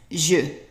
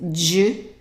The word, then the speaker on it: je: And an E in French attached to only one letter or one sound is pronounced E. E. So how would you pronounce the whole thing? Right, je. Je. And be careful, don't pronounce it je. It's just soft. It's je. Je.